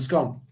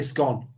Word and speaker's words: scone: scone or scone and scone? I say scone. That's an age-old feud between the North and the South. It's scone. I think you'll find it's scone.